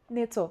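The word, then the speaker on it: ནེ་ཙོ: Nezo means parrot. Na, jengbu, ne, za, naro, zo. And you have the choice. You can say the word at the end, nezo, or people are going to understand it.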